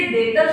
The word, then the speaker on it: debtor: जो डेबिट शब्द इसे डेटर शब्द से बनाया गया है, DEBTOR, डेटर में बी साइलेंट है।